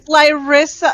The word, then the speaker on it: Lyritha: It's Lyritha. It's Lyritha with a lisp.